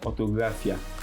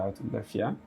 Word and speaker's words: Orthographia: I'm changing the font to orthographia. So that's the pronunciation. Yeah, orthographia.